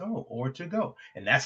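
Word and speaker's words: Ortego: She told me, "Think of or to go like a dine in or dine out.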